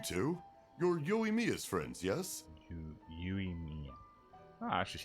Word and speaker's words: Yoimiya: Yoimiya.